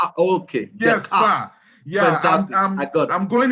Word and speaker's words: Descartes: That is a French name. The S is silent, so we call it Descartes. Descartes. Okay. Yes, Descartes.